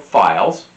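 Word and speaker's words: phyle: tend to associate into these tribes also called files which is spelled p-h-y-l-e which is kind of like the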